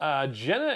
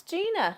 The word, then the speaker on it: Gina: Jenna is here. Jenna Marie. Whatever. It's Gina. Gina.